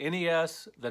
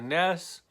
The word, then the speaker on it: NES: the list number five people who call the NES the nests are the Super Nintendo the snis know I get why they do it it's just a quick convenient way to say it fewer syllables Vaness is quicker to say than the NES but it's wrong it's not the nest it's the NES or the Nintendo Entertainment System thus Ness it's not thus nest that's not what it